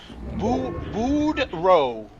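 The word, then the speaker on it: Boudreaux: It's pronounced boud row." Like row your boat. Brow. Budro.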